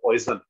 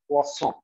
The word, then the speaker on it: Poisson: Okay, Poisson is French, therefore that is the pronunciation. But since we are in India, hum desi use karenge poison. Poisson ratio is equal to iska actual pronunciation of Poisson.